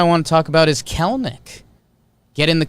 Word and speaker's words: Kelenic: And then it's Kelenic, but it's spelled Kelenic. It looks like Kelenic, but you don't pronounce the second E. So Gerrit Kelenic is a center fielder, lefty, 21 years old.